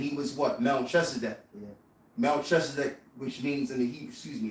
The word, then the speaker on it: Melchizedek: Melchizedek, which means in the Hebrew, it's pronounced in the Hebrew, Malak Tazadak, which means the king of righteousness.